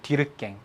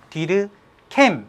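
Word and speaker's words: Durkheim: 디르깽이라고 읽어요. 디르깽. 프랑스 사람인데요. 디르깽 또는 디르캠 이렇게 합니다. 상관없어요.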